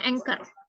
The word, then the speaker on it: anchor: sih Oh new newser Oh aner bacanya tulisannya Ancor gitu ya kayak kayak mentega tuh encor ya Oh heeh bacanya anor news anchor ya jadi contohnya adalah